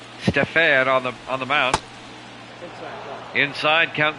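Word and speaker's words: Stephan: It's pronounced Stefan.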